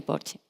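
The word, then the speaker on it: Porsche: red de concesionarios de Porche Ibérica para España y Portugal. Beatriz me ha dicho que se pronuncia porche en español, así que correcto.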